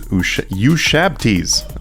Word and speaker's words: ushabti: to need to use Ushabtis. I actually had no idea how to pronounce that properly until I researched it. It's actually Ushabti.